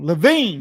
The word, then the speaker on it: Levine: Levine, like Adam Levine, baby.